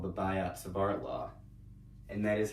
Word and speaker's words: Biot-Savart: What we have to do here is called the Biot-Savart Law, and that is how it's pronounced actually.